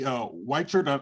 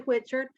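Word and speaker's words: Whitchurch: Whitechurch, I'm sorry, I hope I pronounced your name right. You're on mute. Yeah, that's okay. It's actually Whitchard.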